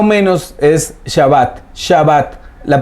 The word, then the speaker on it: Shabbat: en el hebreo el día de reposo es Shabbat, ¿sí? S-H-A-B-A-T, más o menos así se escribe siempre. Hay gente que lo escribe con W, gente que le pone otra H, pero más o menos es Shabbat.